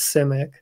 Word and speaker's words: Simic: I found a video of him pronouncing his own last name as Simic. Okay. I've had people correct me. Is it, they say C as in S-E-A, C-Mac, or is it Sim, S-I-M-Ac, Simac?